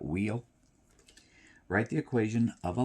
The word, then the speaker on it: WEOL: My abbreviation or acronym for that is simply WEOL. I pronounce that wheel.